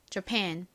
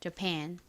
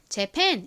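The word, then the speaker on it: Japan: 이렇게 씁니다 발음해 볼게요 jan jan 좋습니다 뒤쪽에 강세가 있어요이 A 강세를 받아서에 소리가 나고 가장 앞에 a 강세를 받지 않기 때문에 힘없는 어 어 소리가납니다 그래서이 단어의 발음은 자이 되죠 jan 그런데 그냥 편하게 한국식으로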